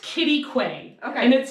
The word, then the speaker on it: Quitaque: So Pole Canyon is located about 8 miles south of a town called Quitaque. Oh yeah, how do you spell that? You asked the wrong person. So Q-U-I-T-Q-U-I-T. It's pronounced Quitaque.